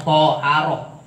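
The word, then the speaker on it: طهارة: Adapun lafad toharoh sebagaimana yang tadi disebutkan lafad toharoh bifati to, jadi bacanya toharoh, to ini dipatahaken. Iku apa artine lugotan anadopatu menurut bahasa mah artine bebersih.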